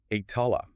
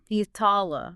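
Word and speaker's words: احتلال: It involves adding an I sound at the beginning and a T sound in the middle. So it creates the verb Ihtilal. Ihtilal.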